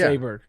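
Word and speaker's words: Åberg: Oberg.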